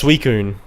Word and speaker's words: Suicune: had no idea as a kid yeah it's suicune sweet yeah okay yep yep so you never